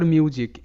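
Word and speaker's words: music: vowel আছে ই আর শব্দের শেষে ই কিন্তু সাইলেন্ট থাকে এটা বলা হয়েছে তোমাদের আগের ক্লাসগুলোতে রাইজ এরপর মিউজিক এম ইউ এস আই সি মিউজিক তো এই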